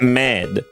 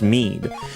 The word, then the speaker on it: mead: Or is it med? I don't know what the word is. Is that fermented honey drink of Celtic ancient times? I think it's mead and not med. I think it's pronounced mead.